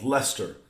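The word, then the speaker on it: Leicester: guys have in England that's called Lester but it's like freaking this long it's not Lester it's Lester like what blams of fr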